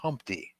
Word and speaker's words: Humpty: myself my name is Humpty pronounced with an umpty you could tell Tony's